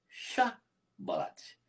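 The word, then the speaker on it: שיבולת: Não conseguia falar mais chá balate.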